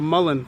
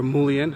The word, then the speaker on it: Mullein: hand drill so yeah this is a Mullen flower head or mullion however you choose to pronounce it Latin name is verbascum